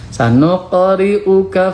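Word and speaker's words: سنقرئك: Selanjutnya untuk tajwidnya, sanuqa, ini qalqalah sugro. Huruf qaf itu huruf qalqalah, dibacanya memantul, tapi patulnya sedikit. Sanuqa, sanuqa, sanuqa. Karena kenapa memantulnya sedikit qalqalah sugro? Karena berada di tengah kalimat. Sanuqri'uka fala.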